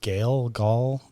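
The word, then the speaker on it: Gehl: I don't know how to say the name. Gale. Oh, Gailey. G-E-H-L. Gale.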